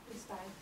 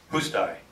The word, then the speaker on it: Hustai: But how do you pronounce that, Ginger, so I don't screw up? What? Hustai. Hustai.